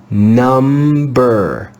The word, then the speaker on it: number: read this word together number number number you can hear both the m and the b the b is only silent in the digraph mb you'll have to learn